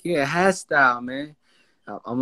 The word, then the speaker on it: Hastyle: So it's like, you know, my name is Hastyle. You know what I'm saying? It's not Hastyle. It's not Hostyle. Nah. Hastyle.